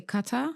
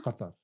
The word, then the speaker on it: Qatar: How do you say Qatar? Qatar. Qatar. Yeah, it's you pronounce it here, somewhere here. Qatar.